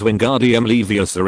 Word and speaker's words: Wingardium Leviosa: You should pronounce it gently as Wingardium Leviosa instead of putting the emphasis on sa.